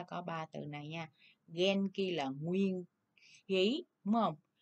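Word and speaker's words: 元気: Nguyên khí chúng ta đọc là gì mọi người? Genki. Genki. Genki vậy là đáp án số 2 nha.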